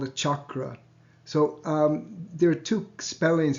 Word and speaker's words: chakra: with just the C-A-K-R-A, because the C has the cha sound in it. But in the chakra has already crept into the English language and with the CH, but it's chakra is how it's pronounced.